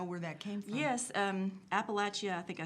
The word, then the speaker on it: Appalachia: Yes, Appalachia, I think I said it wrong the first time.